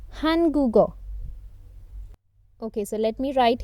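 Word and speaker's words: 한국어: being pronounced as ghaw because it is a part of syllable three and its stress is reduced we will pronounce it as go so this is syllable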